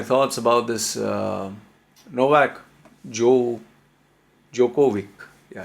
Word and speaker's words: Djokovic: about this novak joe jokovic yeah i called his name right finally before i was pronouncing as dejokovic okay novak jovik just